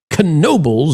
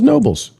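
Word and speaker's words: Knoebels: Pro canobles is pronounced with a C. It's like nobles with a ca ka. I thought I always thought it was nobles.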